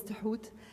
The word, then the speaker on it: Thoth: And the ibis is then Tuhut, spelled in English Thoth, which is unpronounceable, but his name is Tuhut.